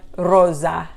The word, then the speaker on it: rosa: navy rosa is pink so contrast rosso and rosa the s's sound different soft sound hard z sound because there's only one s on a is orange